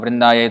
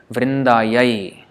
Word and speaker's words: Vrindāyai: No, that's wrong. Vrindāyai, yai is for female, Vrindāyai, whereas Kṛṣṇāya is for male.